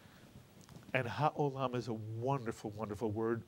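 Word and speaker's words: העולם: The ayin is silent, followed by a cholam, O. And the last syllable, lam, mitsuyan. Put the word together and you get ha'olam. And ha'olam is a wonderful, wonderful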